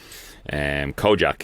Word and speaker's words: Kojaque: Kojak, he's an Irish rapper. Kojak is spelled Kojaque, Kojak.